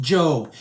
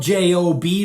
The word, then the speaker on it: Job: It's actually pronounced Job. It's spelled J-O-B like the job we have, but it's pronounced Job.